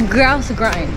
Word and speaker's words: Grouse Grind: get ready and head to Grouse Grind it's Grouse Grind right that's how you say it yeah so